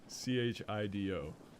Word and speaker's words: Chido: Is this like Chester Cheeto? Chido. Pronounced the same way.